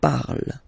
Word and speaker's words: parle: And then the way to pronounce it is je parle, parle. So remember, we put it, okay, but then we don't really pronounce it.